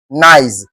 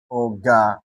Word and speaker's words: organize: with ISE or IZE, you are expected to stress the third syllable and you must start your counting from the what? From the back. As a result, you have what? Organize. So prominence must be given to this OR here. So if you have to stress this word, you have it in this form. Organize. It should be in this form. Organize. The OR here must be given prominence. Then we have our G and we have what?